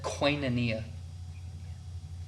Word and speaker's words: Koinonia: Koinonia. Sounds like I feel like I want to spell it like quinoa. QUINEA or wait, EA, yeah. No. QUIN. Can you say the word again? Koinonia.